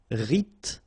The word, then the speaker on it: rythmique: Remember, Y pronounced like I and then H doesn't exist. Rythmique.